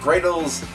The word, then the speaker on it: Greydles: the ark type is indeed great old so gray Dalls it's spelled g re y dl e and it's